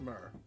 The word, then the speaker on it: myrrh: pronounced myrrh.